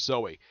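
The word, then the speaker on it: Zoë: It's pronounced traditional Zoe, Z-O-E, but with 2 dots over the O.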